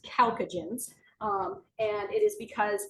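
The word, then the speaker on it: chalcogens: nobody ever really uses that name so it's pronounced calcagens um and it is because oxygen and sulfur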